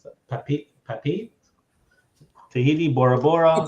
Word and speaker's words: Papeete: Well, like I said, they go into how do we pronounce that? Papeete, Tahiti, Bora Bora. Oh, Papeete.